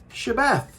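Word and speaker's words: שבת: the name of yahushua it's a shh sound just like in yahushua's name yod hey shh beth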